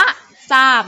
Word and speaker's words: ทราบ: เป็น เสียง ซอ โซ่ ทร ออก เสียง ซ ออ นะ คะ ฉะนั้น คำ นี้ อ่าน ว่า ซา นี้ นะ คะ คำ นี้ อ่าน ว่า ทรัพย์ แล้ว ก็ คำ นี้ อ่าน ว่า ทราบ นั่น เอง นะ คะ